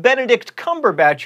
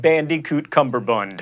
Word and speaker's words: Benedict Cumberbatch: including this picture of Benedict Cumberbatch who is apparently a nerd fighter you say that Benedict Cumberbatch by the way not Bandicoot cumber Bund and that is the first